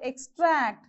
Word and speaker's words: extract: pronounce a bird okay the next one is extract so here you have two syllables and even this e as a weak prefix so the second syllable will take the stress mark so extract this is how we have to pronounce what is the third